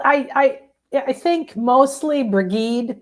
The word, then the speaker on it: Brigid: Uh, how do you pronounce it, Nan? Well, I I I think mostly Brigade. It's bridg It's Bridg if for people who are trying to figure out what we're saying, Bridg.